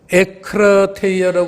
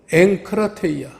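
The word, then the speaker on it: ἐγκράτεια: 우리 한글에도 왜 무슨 부음 법칙, 연음 법칙, 무슨 이런 법칙이 있듯이 이 헬라어에도 법칙이 있어서 에크라테이아라고 그러질 않고 엥크라테이아.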